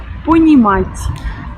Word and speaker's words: Понимать: Ça veut dire qu'après le T, il y a cette espèce de petit B pour signifier que c'est un T dit mouillé, comme par exemple dans le mot français tien.